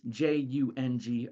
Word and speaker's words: Jung: It's spelled with a J, which is different, J-U-N-G, Jung.